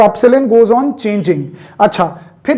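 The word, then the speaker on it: epsilon: Pronunciation क्या है B, तो इसकी प्रोनाउंसिएशन क्या है, एप्सिलॉन. क्या बोलते हैं इसको, एप्सिलॉन.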